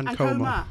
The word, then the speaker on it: Ankomah: Am I pronouncing that right? Yeah, Ankomah.